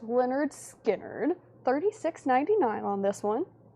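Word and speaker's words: Lynyrd Skynyrd: We've got Leonard Skard, pronounced Leonard Skard.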